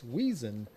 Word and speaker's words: Wiesen: a shout out and we pronounce clay wiesen's name correctly and it's wheezin got it thank you